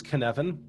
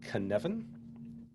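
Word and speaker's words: Cynefin: perspective you can certainly go there and the pronunciation of this is kanevin but it's written c-y-n-e-f-i-n a welsh word i believe and uh very very confusing at first glance but you pronounce it caneven and dave snowden uh came up with this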